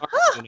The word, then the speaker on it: Articuno: Articuno. I did it. Yeah, you did. Congratulations. I'm an idiot. But I mean, I don't. I have like maybe I have probably one Articuno and 2 Moltres and maybe 2 Zapdos because